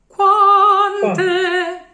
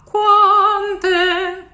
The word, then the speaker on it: quante: but it's not in the throat at all, the Italian Q. It's really in the cheeks. Qua. It's a blow of air. And there's no U, there's no real U. It's not the qua. It's qua. Quante.